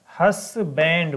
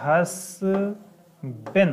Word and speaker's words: husband: तो इसका सही प्रोनाउंसिएशन क्या होता है, तो इसका सही प्रोनाउंसिएशन होता है हसबेन होता है।